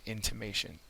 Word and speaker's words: intimation: that would be an intimation. Okay, it is a noun, and the third syllable is accented.